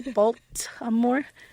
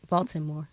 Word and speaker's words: Baltimore: b a l t balore yeah Baltimore Baltimore now you say it Baltimore that's not how you said it I know but that's cuz you're looking for the T that's how you say it Baltimore Baltimore or the L I mean the L the L and the T um so we are